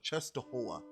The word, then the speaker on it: Częstochowa: I believe that is the Black Madonna of Poland, Częstochowa, or I think the pronunciation is the Black Madonna of Częstochowa, excuse me.